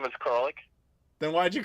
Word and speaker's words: Koralik: my last name is just don't pronounce the a but naturally a lot of people do that's why it's coric but if you say cor alic or cor Alik or something that that happens a lot that's how you you